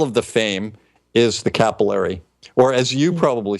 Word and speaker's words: capillary: It's not the capillary, it's the capillary. Okay. And we pronounce it capillary.